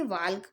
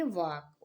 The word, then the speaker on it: walk: तो अब हम क्या इसे वाल्क पढ़ेंगे? नहीं, इसे हम पढ़ेंगे वाक। ओके, तो अब हम देखेंगे ऐसे ही शुद्ध प्रोनाउंसिएशन इनका कैसे करते हैं, और बहुत आसान तरीके से हम इंग्लिश पढ़ना और बोलना सीख जाएंगे इससे।